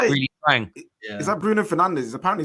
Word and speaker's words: Fernandes: You're not supposed to pronounce it Fernandez. It's supposed to be Fernandes or something.